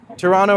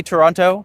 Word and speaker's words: Toronto: it's spelled is because no one in Toronto pronounces the second T. This is something if you come here and you say Toronto, we know you're not from here.